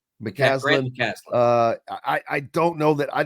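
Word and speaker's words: McCasland: Because I don't know them all, but like we've talked about Texas Tech, McCaskill, I got his name wrong. McCaslin.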